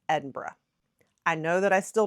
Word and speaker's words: Edinburgh: is to pronounce it Edinburgh or Edinburgh. It's more like Edinburgh. I still can't do it right, I know. It's kind of more like burr-ah, not burg, like we would pronounce it.